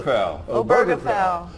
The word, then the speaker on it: Obergefell: Obergefell.